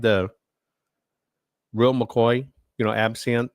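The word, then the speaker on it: absinthe: Am I saying that right? Is it EP? How do you say that? Let's look that up. Hold on. And Oh, listen. It's in French. It's eps. Ebsant in French. Epsont. That's interesting. Upsant in French.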